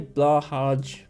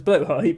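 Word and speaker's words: Blåhaj: Well, people say Blahaj because they don't know how to pronounce Blowhigh, but yeah.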